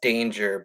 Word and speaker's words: Danger: hour just see though it's spelt danger but it's pronounced dang er it's a family name